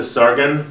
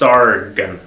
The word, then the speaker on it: Tsaagan: I know it's spelled like T-S-A-A, but it's pronounced Tsaagan, something like that.